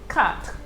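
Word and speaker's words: quatre: french word okay so q always goes with the u okay to give you that key like give me that k sound so the u is not pronounced what you hear is the k like in the word cat cat cat means for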